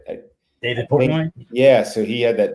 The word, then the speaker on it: David Portnoy: So let's start with I think like David Portnoy, was that how you say it? David Portnoy?